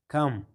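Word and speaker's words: comb: لکه ډیټ، په دې کې چې دا بي د ټي نه د مخه ده نو دلته بي نه تلفظ کیږي. ډیټ معنا قرض. کم، کم چې ده نو دا د ام توري څخه وروسته ده نو نه تلفظ کیږي.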